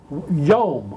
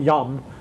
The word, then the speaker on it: yom: times always comes from the word yom y o m pronounced like home not yum but home so in the process